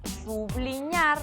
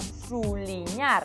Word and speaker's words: subliñar: Nós o que temos é o verbo subliñar, que se pode pronunciar subliñar ou suliñar, porque ese B pode ter unha pronuncia relaxada, como submarino, que se pode ler submarino ou submarino.